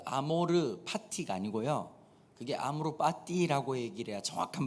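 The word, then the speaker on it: amor fati: 그 아모르 파티가 아니고요, 그게 아모르 파티라고 얘기를 해야 정확한 발음입니다.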